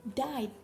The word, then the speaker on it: died: Nah, dibacanya bukan dia deh, tapi died gitu.